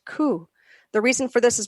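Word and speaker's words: 九: another number number nine in japan the number nine is pronounced ku the reason for this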